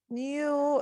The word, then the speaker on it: knew: joe nor her parents knew it's the past of no and it has a silent k how tall a basketball